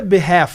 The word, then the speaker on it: behalf: Por que que é behalf? Neb, tá escrito half, né? Mas nesse L aqui, por que que ele é mudo?